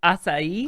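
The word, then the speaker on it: açaí: And it's pronounced acai. Acai. I gotta hear it. We from get the everything. We expert. get acai. We get it's acai. It's a Brazilian berry that there's a part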